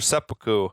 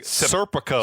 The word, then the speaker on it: seppuku: And Kenner says she's making preparations for seppuku. Mm-hmm. Although I feel like they pronounced it really It was weirdly. a weird. It sounded more like he was saying like almost like serpico.